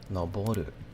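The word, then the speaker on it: 登る: Let's say noboru is to climb, and it literally and nowhere here tells you it's ue or jo. It's completely different. It's noble ru.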